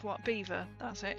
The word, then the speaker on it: Belvoir: Beaver. That's it. It's It's Beaver Castle. Right. This This will confuse. I'll put it I'll type it in. That is pronounced beaver. You think it's Belvoir?